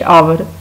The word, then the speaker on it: hour: Next sentence is She stayed there for dash hour. अभी हमने देखा था कि जहाँ पे H silent हो, O की sound आए तो वहाँ पे हम N लगाते हैं. She stayed there for an hour.